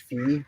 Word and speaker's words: Phi: so 100 in the golden ratio base this is in Golden in base what's looks like Phi but it's pronounced fee so base fee technically is the way